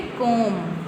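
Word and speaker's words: comb: कोम। तो यहां पर क्या आएगा बी ठीक है कोम यहां पर आएगा के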